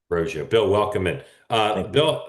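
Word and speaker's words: Roggio: and Bill is your is your last name pronounced roio that's correct roio bill welcome in uh Bill we'll start with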